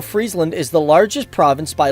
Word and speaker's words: Friesland: from what I've heard it's actually not pronounced Friesland like french fries it's more like Friesland like you know it's